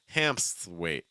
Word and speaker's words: Hamthwaite: So you have the A plus M sound, am, ham. Then you have a P, so hamp. Then you have an S after it, hamps. And then you have a TH after that, so hamps. And then you have a W sound after that, so like hamps. Hamps. So Hamthwaite. Hamthwaite. Hamthwaite.